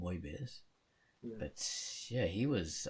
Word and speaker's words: Moebius: I say Mobius, but apparently you meant to pronounce his name Moebius.